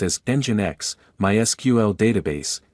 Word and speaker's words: Nginx: The acronym LEMP stands for Linux Operating System, L, Nginx Web Server, E, pronounced as Nginx, MySQL Database, M, and PHP Scripting Language, P.